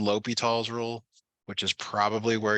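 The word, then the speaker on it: L'Hôpital: L Let me apostrophe L'Hopital's, pronounced L'Hopital's.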